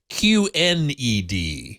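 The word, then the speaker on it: QNED: at it's not OLED it's q-n-e-d Q Ned oh no there is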